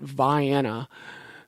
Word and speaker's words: Vienna: It looks like the word Vienna, like Vienna, Austria, but I discovered that people pronounce it Vienna. So I will try to say that. Vienna, Illinois.